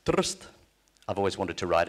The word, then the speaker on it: Trst: The city of Trieste is pronounced Trst.